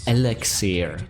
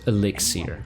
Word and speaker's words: elixir: Jim Dell pronounces it as Alexir, not Elixir.